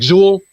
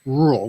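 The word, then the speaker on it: Rûl: That's R-U-L, and U has a little funny symbol on it. It sounds like Zool, but it's pronounced Rule with an R.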